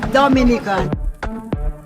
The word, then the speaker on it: Dominica: oh we call it dominican it is spelled d-o-m-i-n-i-c-e it is not dominican republic it is pronounced dominica and is situated between